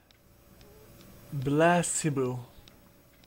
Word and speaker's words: placebo: today repeat after me blast cebu the stress is on the middle syllable is the right answer